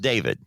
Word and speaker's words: D4VD: It's pronounced David, but the letter D, the number 4, and the letter VD. Okay, pronounced David.